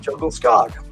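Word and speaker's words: Djungelskog: I don't know but jungle skog is pronounced jungle scog oh that was pretty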